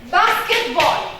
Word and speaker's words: basketball: But sometimes I have words like basketball. What am I going to stress? Basket or ball? Basket. But basket is 2 syllables, right? Basket. So what are you going to stress? The first. Because basket itself is a noun, and 2 syllables noun, we stress the first syllable.